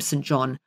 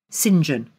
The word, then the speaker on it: St John: St John Beachwood but you don't call him St John you pronounce it singen so St John or singen as he's known